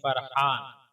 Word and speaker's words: فرحان: ہے۔ تلفظ اور اعراب: فا پر زبر، را پر جزم، ہا پر زبر الف کے ساتھ اور نون ساکن، یعنی فارا زبر فر، ہا الف زبر ہا، نون ساکن فرحان۔ معنی: مسرور، شاد، خوش